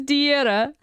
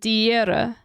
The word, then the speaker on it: die Here: It just means die Here. And the way I pronounce it there is important. Die Here. Die Here. Like, we don't even really say the H. It's like, die Here.